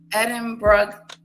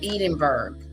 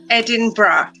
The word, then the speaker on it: Edinburgh: My husband was calling it Edenberg. But it's brah and bra like b r a bra.